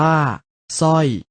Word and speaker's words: สร้อย: เสียง 2 แบบ คือ ออก เสียง พยัญชนะ ตัว หน้า เพียง ตัว เดียว และ ออก เสียง ซ